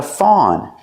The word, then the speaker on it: fawn: Make the sound aw like saw and law.